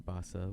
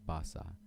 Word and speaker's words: Teresita Basa: some weird pronunciation but I looked up how to pronounce her name and it said Teresita it didn't have it didn't have the rolled R and it said Basa so that's what I'm gonna